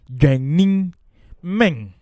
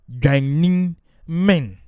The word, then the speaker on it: Dwennimmen: pronounced as Dwennimmen, with the low tone on the Dwennim and the high tone on the men. So let's do it. Dwennimmen. Dwennimmen. Yes. Now, even though Dwennim is one word, when we are pronouncing it, we sort of divide the Dwennini into two before we add the men, the last one.